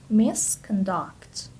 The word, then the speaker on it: misconduct: Misconduct. As you can see, the stress is on the second syllable.